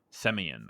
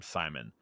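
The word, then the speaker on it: Semyon: character uh Frank's uh semian I think is how you pronounce it I keep calling him Simon um but it's Frank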